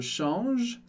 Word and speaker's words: change: E no final da palavra a gente não pronuncia, e S no final das palavras a gente também não pronuncia.